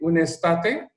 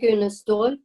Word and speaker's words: Unestål: the most famous person, Mr. Lars Erik Unestate. Is that the right pronunciation? Yes, Lars-Erik Unestål.